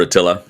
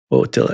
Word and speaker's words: Attila: I think A's in Hungarian are pronounced O when they're like that. Attila.